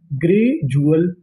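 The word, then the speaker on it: gradually: डी यू एल को पढ़ते हैं जुअल। क्या पढ़ते हैं? जुअल तो मीनिंग क्या बनी? ग्रेजुअल और एल वाई है ग्रेजुअली।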